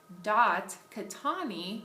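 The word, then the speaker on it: Khetani: Her email is Mary, M-A-R-Y, .Catani, which is spelled K-H-E-T-A-N-I, at colostate, colostate.edu.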